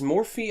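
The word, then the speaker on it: Morphy: Murphy Murphy or Murphy is more fee actually a form of Murphy cuz like a lot of people like hungarians tend to mispronounce more fee I think the Hungarian chess players tend to go like Murphy like it was just a normal spelling of Murphy if you don't know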